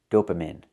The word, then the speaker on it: dopamine: I cannot pronounce the word dopamine. It's pronounced dopamine. We need the long E sound like green bean.